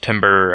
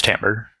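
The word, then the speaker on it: timbre: thing to mention is there's also this Timber uh I think that's how you say it this Timber part here I I'm wrong it's tamber this tamber uh element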